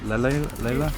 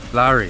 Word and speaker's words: lari: How do you say the Georgian currency? Leila? Larry? Lari, that's it.